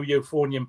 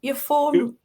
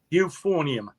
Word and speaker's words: euphonium: So we were able to get a new euphonium player in and I moved onto an even bigger instrument which was the tuber.